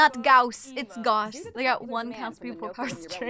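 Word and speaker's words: Gauss: Goss is correct. It's not Gaus. It's Goss. I always pronounce him Goss like Fallout Goss rifle. Is that Goss? Double check. Goss is German.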